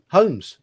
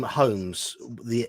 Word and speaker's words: Holmes: In the surname Holmes, for us the L is silent.